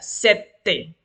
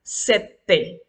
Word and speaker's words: sette: El número 7 se pronuncia de la siguiente manera, sette, fuerte porque tiene doble T en medio. Y tenemos que pronunciarla fuerte, sette.